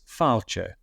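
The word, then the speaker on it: fàilte: in GIC which is fche okay fche F so um it's it's more in GIC because the accent is on the a you you more push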